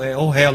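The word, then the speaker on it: אוהל: No hebraico moderno é ohel, é um pouco diferente a pronúncia.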